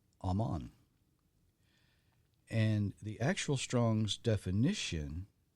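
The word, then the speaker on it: אמן: the uh Strong's number is Hebrew 539 uh pronounced Aman and the actual Strong's definition is to confirm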